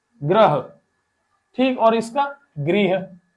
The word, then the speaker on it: गृह: और इसका गृह। इसका है ग्रह और इसका गृह।